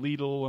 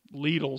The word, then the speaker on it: Lidl: So I've heard people pronounce it Lidl, Lidl, Lidl. I mean, we just call it Lidl.